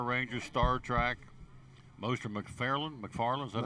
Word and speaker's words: McFarlane: Most are McFarlane, is that how you say it? McFarlane, yeah, McFarlane.